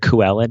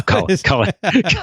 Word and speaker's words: Cullen: Are we pronouncing it Cuellen now? No, Cullen.